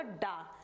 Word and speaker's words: ड: इसका क्या उच्चारण होगा इसका उच्चारण होगा डा इसको हम अड़ नहीं बोलेंगे किसी शब्द के अगर